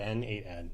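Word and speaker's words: n8n: there's a million there's there's actually a controversy over how to say it but we we just say N8 ad to simplify it.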